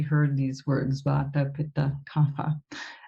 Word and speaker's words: Kapha: these words, Vata, Pitta, Kapha. The technically correct way to say it would be Kapha because it's Sanskrit and there's no f sound in Sanskrit. The f sound crept in from Persian into Hindi, and so we say